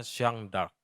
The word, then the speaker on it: Jeanne d'Arc: Bacanya Jeanne d'Arc.